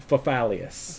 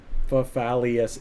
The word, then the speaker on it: Fafalius: You could almost, it's Fafalius. 4 syllables, but sometimes people say to me, they make the last 2 syllables like 1 syllable, and they say Fafalius.